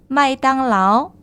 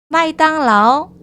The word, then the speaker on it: 麦当劳: 자, 맥도날드는 외래어예요. 그래서 한자의 의미는 부여하지 않고요. 발음만 비슷한 것만 가지고 왔습니다. 읽어보실게요. 마이땅라오. 큰 소리로 따라 읽어주셔야 되겠죠? 마이땅라오.